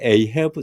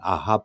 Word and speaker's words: Ahab: 그래서 에이헤브 영어식 발음으로 이제 그렇게 되어져 있는데 우리는 아합 왕의 이름을 따온 이름이다.